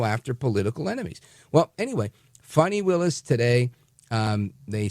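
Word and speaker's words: Fani: So, adios to funny Willis. Now, and her name is Fanny, but she pronounces it funny. So, I call her Funny.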